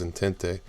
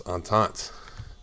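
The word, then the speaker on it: entente: on taunt I didn't I always said it was intente until you know I read Stalin saying it and then I looked it up and it's on taunts whether that on the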